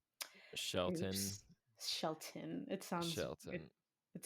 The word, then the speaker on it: Shelton: Um, I was pronouncing it Sheldon, like with a D, and then I saw that it was spelled with a T. So, Shelton.